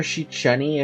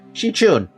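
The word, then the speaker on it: Xichun: Because the X is she, but it could also be shu, depending on if you decide to put if you want to substitute it with a U.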